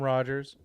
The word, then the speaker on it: Rogers: This is Rogers. Yes, it does rhyme with Dodgers.